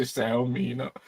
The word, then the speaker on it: Xiaomi: I'm not sure I'm a professional in that, but I pronounce it Xiaomi, So I hope I'm right.